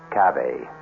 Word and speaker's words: cave: word spelled the same way C A but pronounced cave it means beware our cast included Marian